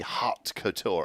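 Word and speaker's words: haute couture: cotour what is that it's spelled like that I think that's just like h a u t hot Couture oh it's like a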